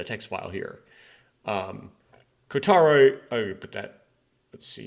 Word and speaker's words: Kotaro: up um C kotaro I always like to call him koutaro sorry Oshi for pronouncing your name wrong kotar kotaro uchikoshi worked on ayaka's